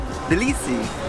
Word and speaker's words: Tbilisi: But the first thing we realized is that it's not actually called Tbilisi. The city is called Tbilisi. But it's spelled with a T, so don't be mad at us. Yeah, it's a silent T.